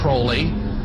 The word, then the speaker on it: Crowley: Aleister Crowley he likes to have his name pronounced Crowley to rhyme with Koli and the statements today